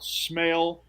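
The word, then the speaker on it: Smael: one of the senses well it's not spelled that way but it's pronounced that way yeah is it like smoke is it related to smoke Mundy he might be uh it's uh s-m-a-e-l smell Munden London okay oh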